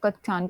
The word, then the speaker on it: कच्चान: देखो सेकंड कौन सा था आपका, सेकंड एक और सेकंड निकल गया, उसका नाम था पाकुडो कच्चान, या कच्चान करके इसको प्रोनाउंसिएट करते हैं, इसको नोट करो।